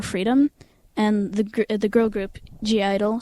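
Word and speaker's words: (G)I-DLE: Some people say that it's pronounced idol, but I wonder why is there a G in it if you're not supposed to Fair pronounce question. it? Because in Korea it's Yeoja Idol, which means girl idol. So obviously the G stands for girl.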